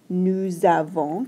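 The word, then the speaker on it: nous avons: verb so we've got nusavon kind of makes a z sound when you link them together sound okay you might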